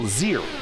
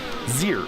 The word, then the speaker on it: Zier: Olivia Hayward says that Lilac's name is pronounced as one syllable, Zier. Zier.